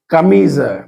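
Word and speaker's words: camisa: হলো মেজা এবার দেখেন কামিজা মানে হচ্ছে যে এখানে কামিজা বানানটা দেখেন সে এম ই এস আ এখানে এস আ আছে কিন্তু ছা এর মধ্যে উচ্চারণ নয় কি হলো জ এর মত উচ্চারণ হচ্ছে কাবিজা একইভাবে কাজা কাজা মানে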